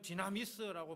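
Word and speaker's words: δύναμις: 발음하면 디나미스라고 발음하는데 우리가 아는 다이너마이트 아시죠? 이게 어원이 됩니다.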